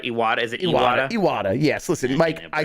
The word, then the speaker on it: Iwata: Iwata, yes.